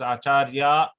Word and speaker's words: acharya: acharya actually ladies also they can call as acharya with a long a but when the motherly